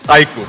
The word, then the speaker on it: iQOO: speak to the audience the pronunciation is iq i emphasize again it's aiko shutter cold